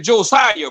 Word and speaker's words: Josiah: No, the man name is Josiah, bro. Josiah. All right, okay, Willie. I stand corrected. Josiah. Yeah, that's how you pronounce that.